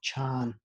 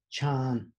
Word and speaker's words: Chan: using there which is chan which means feliciano so again listen to the sound of the ch in sabotex so it's pronounced chan again chan and then we have